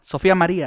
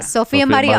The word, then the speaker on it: Sophia Maria: Yeah, say it like that. Sophia Maria. Sophia Maria.